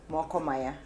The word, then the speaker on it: Moko Maya: How do you pronounce it? Mokomaya. Mokomaya? Yes. Me, I'm not saying it like I'm saying it in French.